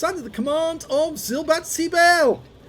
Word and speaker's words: Silberzwiebel: command of zilbatsy bell and yes i've pronounced his name correctly at last and he's got two months of excellence on the barrel already i have a lot of difficulty pronouncing silvazibel's uh name silbatsy bear yeah got it right this time it means silver onion